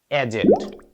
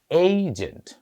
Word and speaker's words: agent: আমরা সাধারণত শব্দটি বলি এজেন্ট। একচুয়াল প্রনান্সিয়েশনে আসলে শব্দটি এজেন্ট বা এজেন্ট নয়। উচ্চারণটা হয়ে যাবে এজেন্ট। আমরা যে বলি সেলস এজেন্ট মার্কেটিং এজেন্ট কিংবা রয়ের এজেন্ট উচ্চারণটা আমরা এখন থেকে এজেন্ট বলবো না এইজেন্ট আসলে এখানে এ কিছু